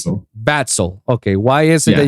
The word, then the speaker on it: Vaxle: do you pronounce it yeah how do you pronounce it batsol okay why is it that you choose that